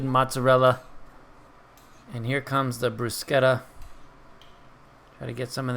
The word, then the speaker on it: bruschetta: Some people call it bruschetta, but I think the actual correct pronunciation, although I am not Italian, is bruschetta. That's the way I've always pronounced it.